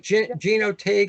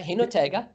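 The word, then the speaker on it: Jinotega: I like Gino Tig. I'm sure I'm pronouncing it wrong. Yeah, Hinotega.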